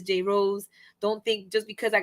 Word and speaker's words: JRose: because I hate when people call me and I'm like no it's Jay Rose don't think just because